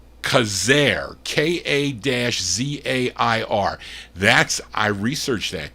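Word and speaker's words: Quezergue: wardell and i was saying q-u-e-z-e-r-e-r-e-r-g-u-e well that's pronounced kazaire k-a-z-a-i-r that's i researched that today so i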